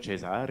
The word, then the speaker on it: Caesar: Italiens continuent de dire Cesare et que le latin d'église a donné une continuité à la prononciation locale du latin. C'est Caesar, pas Caesar. Caesar, c'était un S.